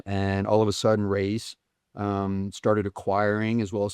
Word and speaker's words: Reyes: So they were just brought out by Reyes. And I got to clarify that, because we want to say Reyes. It's not Reyes. Okay. You're teaching me something. It's Reyes. That's the way they want it pronounced.